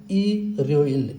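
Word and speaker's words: 일요일: जस्तै आइतबारलाई उच्चारण गर्नु पर्यो भने इल यो इल भनेर उच्चारण गरिदैन यो र चाहिँ माथि जाने हुनाले यो चाहिँ इर्ययोइल इर्ययोइल हुने गर्दछ।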